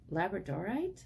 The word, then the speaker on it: labradorite: who chose this lovely sort of multi faceted labradorite stone that's the right way to pronounce it oh we kept the wheel of